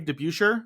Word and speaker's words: DeBusschere: From the 73 Knicks, Dave DeBusschere.